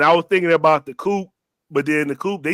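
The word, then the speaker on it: Coup: You don't pronounce the P. It's the Coop.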